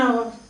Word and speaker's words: hour: A honorary, a hour or an hour. An hour. Because H is silent.